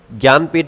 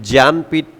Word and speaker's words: ज्ञानपीठ: ज्ञानपीठ award मिला था। देखो यह अलग है थोड़ा। ज्ञानपीठ अवार्ड। ठीक है? यह ज्ञानपीठ ज्ञान कहते हैं उसको इसलिए ऐसी स्पेलिंग है।